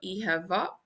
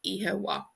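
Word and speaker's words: Oíche mhaith: MH is pronounced like a V, so Oíche va. And then in Ulster and Connacht, this MH is pronounced like a W, so Oíche wa, Oíche wa.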